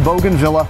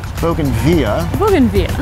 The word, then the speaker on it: bougainvillea: Vista Farms specializes in Bogan Villa or if you prefer Bogen via ban via you can raise the price if you pronounce it like that and they their first